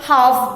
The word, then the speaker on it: half: They covered half the track. HALF. Again here, L is silent.